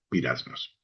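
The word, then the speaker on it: πειρασμός: Peraismo se escribe, pero según esto se pronuncia pirasmos.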